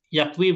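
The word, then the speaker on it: يكوي: Jadi yakwi bukan alif maksurah ya, tapi dia ya. Ada titik duanya. Dan dibacanya i.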